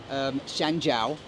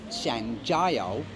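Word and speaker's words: 香蕉: So let's say I would say shanjiao, which is banana, but I would say it how it's spelt. Shanjiao, because it's J-I-O, but in Chinese it's Jiao, Shanjiao.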